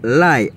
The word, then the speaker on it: l'ail: Nous l'ail. L'ail en français, il écrit A-I-L. Si n'a pas écrit en créole, tout c'est L-A-Y. L'ail. Ça li prononcer comme aïe, l'ail.